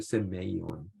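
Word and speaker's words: σημεῖον: 그래서 요거를 어떻게 읽냐면은 세메이온이라고 읽어요. 세메이온. 표적이라는 단어 자체가요.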